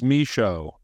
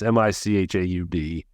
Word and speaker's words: Michaud: It's Michaud, but apologize. No, it's all good. I leave room for error. I've grown up with my last name mispronounced. For anyone that's only listening, it's Michaud. And that D kind of throws everybody for a loop because it's silent.